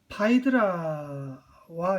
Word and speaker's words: 파이드라: 크레타의 왕 미노스의 딸 파이드라와 이제 재혼을 합니다. 파이드라 이름에 이제 파이드라 60년대 히트 쳤던 영화 죽어도 좋아 때문에 우리한테는 페드라라는 영어식 발음으로 보통 알려진 페드라라고 알려진 이름이 이제 여기서는 파이드라인데 아버지만큼이나 그 늙은 테세우스에게 시집을